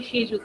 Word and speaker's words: Shejuti: My name is actually Shejuti. You don't pronounce the N in my name.